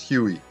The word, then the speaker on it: Huey: They read the number 1 as the letter I and pronounced as Huey.